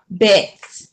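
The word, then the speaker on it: בית: second letter is what bet bet like you making a bet okay the numerical value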